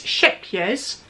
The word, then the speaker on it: Scheepjes: So it's Scheepjes Cahlista.